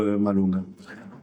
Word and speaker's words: Malonga: Malonga, Malonga. Bonjour. Exactement. Bonjour, monsieur Tikaye. Pas si j'ai pas écorché. Non, c'est bon, la prononciation a été très très bonne.